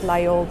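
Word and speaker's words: Laguiole: I pronounce it Layol, but there are different Layol, but there are different ways of pronouncing this.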